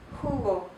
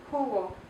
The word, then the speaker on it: jugo: Jota, jugo, jota, jugo. So the letter H, or the letter J, is like a H sound, a little bit more guttural, and it's pronounced jugo.